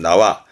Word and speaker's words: 縄: 발음은 나와.